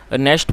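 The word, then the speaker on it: gnashed: his teeth और दोस्तों इसमें जी साइलेंट है तो इसे आप नेस्ट पढ़े और ये एन ए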